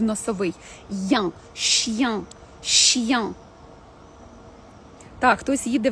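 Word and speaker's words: chien: Дивимося, як буде вимовлятися. Два приклади. «Щян», «щян».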